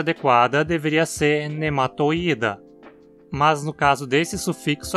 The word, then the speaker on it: Nematoida: Só que aqui a penúltima sílaba é apenas esse i, e ele na verdade é um i longo. Então a pronúncia adequada deveria ser nematoida.